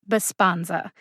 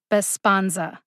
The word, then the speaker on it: Besponsa: out by the way the second syllable spawn gets the emphasis now just my opinion here bassbonza sounds a lot like the word respond besponza respond respond bisponza can you hear the syllable that's emphasized besponza again the